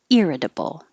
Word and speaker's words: irritable: three orchestrate irritable irritable the t changes to a d irritable i i it means